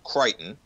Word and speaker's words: Crichton: So Spielberg brought the book, which was written by Michael Crichton. Okay, I believe that's how you pronounce it.